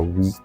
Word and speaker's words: Oui: like uh tell people it's we like in French it's not qu Capital when we started I